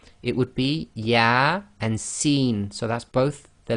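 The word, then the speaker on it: يس: with these single letters they effectively are pronounced as the name of the alphabet not the sound so here you cannot say yeah sir it would be yeah and seen so that's both the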